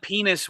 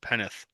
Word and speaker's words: Penix: You said penis. Michael Penix Jr. Penis? You're saying it Say with it an with a S. lisp, Penneth.